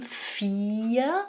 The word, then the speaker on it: vier: So the second one says its name, 'vier', right? It says 'e'.